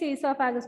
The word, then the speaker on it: esophagus: Pronunciation is esophagus, but the answer അതാണോ?